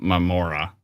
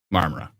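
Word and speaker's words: Marmora: said it wrong again marmara I think so marmara no o not my Mora marmara yes um and uh and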